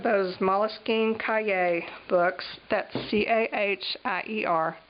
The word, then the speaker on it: Cahier: That's C-A-H-I-E-R, pronounced Cahier.